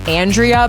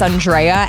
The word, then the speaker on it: Andrea: to literally not okay everyone pronounces my name Andrea but it's Andrea and I never correct